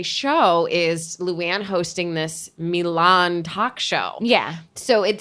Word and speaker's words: Milan: she pronounces the city Mulan. Which is a Disney cartoon.